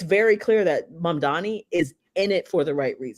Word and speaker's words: Mamdani: There are like in your brain wiring, you may see Mamdani and you may pronounce it Mandami.